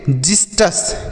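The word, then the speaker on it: xystus: हम क्या पढ़ेंगे देखिए यहां पर भी एक्स का उच्चारण ज के रूप में ही होगा तो हम इसे पढ़ेंगे जिस्ट अस क्या पढ़ेंगे जिस्ट अस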